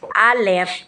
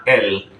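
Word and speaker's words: אל: sinabi mo kanina yung Al And lamid lamid okay So ano Ong ano ano Ong sinasabi ko na iba kasi kapag ito ay isinulat nila o binabanggit na L kasi ang tama niyan is Al Okay Al means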